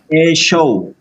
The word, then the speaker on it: Yeshua: Ini bacanya Yeshua.